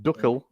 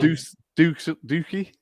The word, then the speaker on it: Dookie: So Duckle is in the house. Is that how I pronounce it? No, I mean Dookie. Oh, Dookie. Yeah. Dookie. Yeah.